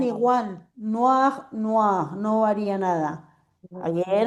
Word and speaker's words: noir: no, Noir, pero se pronuncian no, igual. Noir, noir, no varía nada.